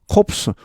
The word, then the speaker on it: corpse: 유사한 철자가 하나 있죠. corpse, 원래 같은 어원에서 나왔는데 이건 P가 발음 납니다.